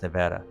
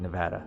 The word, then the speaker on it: Nevada: I know the locals here have a particular way how you say it. I think it's Nevada. That's how you're supposed to say it, Nevada. I think I got that right.